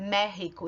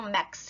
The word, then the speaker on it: México: unidos mexicanos lembrando que a palavra méxico é escrito com x mais a pronúncia mais comum é rico e não max e por quê porque